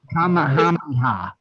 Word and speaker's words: Kamehameha: I think it's Kamehameha.